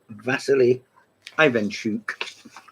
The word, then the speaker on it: Vasily Ivanchuk: Here is Vasily Ivanchuk, as I'm told to pronounce it, there, down there.